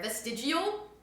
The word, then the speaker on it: vestigial: Vestigial? I know it's not a hard G.